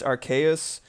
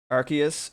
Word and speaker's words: Arceus: I think it's Arceus because Arcane and Deus, and the main thing